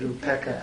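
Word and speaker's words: upekkhā: Actually, We've always pronounced it upeka. Yeah. Upeka. Now, Upeka comes from Upa and Ika.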